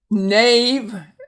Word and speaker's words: knave: The silent K, some people again prefer to look at this as a two-letter N, but we're going to look at the K as silent.